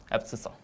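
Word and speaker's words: abscissa: This x coordinate has a nickname absisa app sa. How to pronounce this? Ab plus c plus sha. Oh sorry guys. Yeah absess. That's how we can pronounce it.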